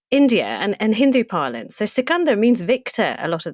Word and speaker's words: Sikandar: And Sikandar is like, whoever wins is Sikandar, which is how you say Alexander's name.